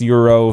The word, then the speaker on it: Gyro: which it's not it's it's greek and it's pronounced euro some places but i like gyro because uh it's my